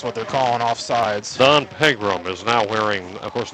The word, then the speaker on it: Pegram: How's so it then pronounced? It's Pegram.